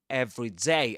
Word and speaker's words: everyday: But in every day as 1 word, the stress goes on ev.